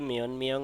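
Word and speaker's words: 몇 명: মিয় থাকে তাহলে এ ত এর উচ্চারণ ন হবে এজন্য একসাথে বললে উচ্চারণ হবে মিয়নমিয়ং খাজুগি মিয়নমিয়ং পরিবারে কতজন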